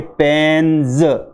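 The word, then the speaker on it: pens: जैसे पी ई एन एस, पी ई एन एस, ये पी ई एन एस जो इसमें पीछे एस आया है इसको हम ज की तरह बोलेंगे, और इसका सही उच्चारण होगा आपके पेन्ज, पेन्ज। जब भी एस से पहले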